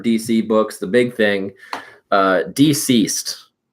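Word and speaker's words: DCeased: books, the big thing, Deceased. Like DC Comics and then like Deceased. Interesting. Okay. Yeah, so it's spelled DCEASE D, so deceased.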